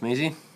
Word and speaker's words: Measy: air mouse and keyboard i think it's pronounced meezy and look for yourself it